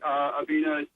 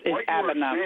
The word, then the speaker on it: Abena: Just a quick point, Abena. It's Abena, please. This is Abena. Yes, Abba. Abena. The E is silent.